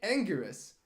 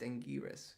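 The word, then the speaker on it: Anguirus: Godzilla's best friend Godzilla's best friend is in Angus Angus I got it wrong in the video I made an entire video about Angus and um it's pronounced angiris which is the Japanese version the japanized the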